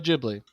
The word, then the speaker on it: Ghibli: It is a stu Yeah, Studio Ghibli.